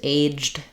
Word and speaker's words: aged: What I would suggest is, first of all, letter A, as you can hear, says the A diphthong, just like A says in its name.